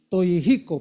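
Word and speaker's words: Toyohiko: Este hombre Toyico. Toyjico, porque en Japón el en el japonés la H se pronuncia como J. Cagua.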